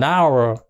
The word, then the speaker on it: hour: là a house nhớ bằng đãy chúng ta đọc là An Hour đúng không là một cái một cái giờ